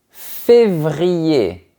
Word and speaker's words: février: Le premier, c'est février. D'abord, on a le son de la lettre V et ensuite, on a le son de la lettre R.